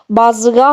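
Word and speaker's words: بازغہ: यहाँ पे हे की आवाज है दोस्तों, तो बाज़गाह बनता है ये नाम।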